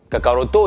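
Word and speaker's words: カカロット: Kakaroto étant Son Goku dans la prononciation japonaise.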